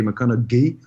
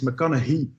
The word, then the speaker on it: McConaughey: there first of all there's a debate how you pronounce his name but non-english native speakers we would say mechanic ghee or but apparently it's McConaughey when you hear that